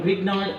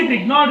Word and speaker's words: Grignard: Fourth method of preparation from Grignard reagent.